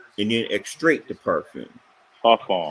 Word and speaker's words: parfum: de Toilette, however they pronounce it. Oh, Then they told that. Eau Cologne, perfume, and then extract the perfume. Parfum. Right. Parfum.